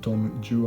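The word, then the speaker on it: Don Juan: looked it up and Lord Byron intended it to be pronounced dong-joo and so that the words rhyme in the text because if you say who don't well in English they probably won't rhyme as well so it's non-gm that's a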